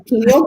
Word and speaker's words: pineal: you're getting yes um i always butcher this word because i want to pronounce it like another part of the body but the pineal gland is the gland